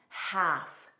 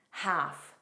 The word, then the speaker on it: half: So alm don't pronounce the L. Alm, calm, bomb, palm, half, half, half.